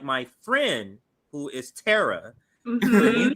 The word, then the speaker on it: Tara: Tara more than Tara so right but yeah Tara is the pronunciation um there's actually a very ancient Hill